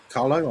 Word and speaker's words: Carlow: william replied to john saying from he's from carlow carlo i'm assuming it's pronounced carlo yeah it is carla it's actually